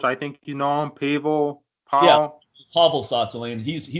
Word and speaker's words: Pavel: Yeah, just say Pavel.